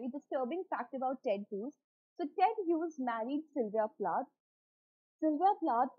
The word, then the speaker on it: Ted Hughes: been rumored that ted hughes and it is pronounced as ted hughes okay so ted whose is the reason for